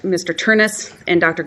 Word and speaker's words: Ternes: I represent Dr gisha and that they are pronounced Mr turnis and Dr gisha this case as most you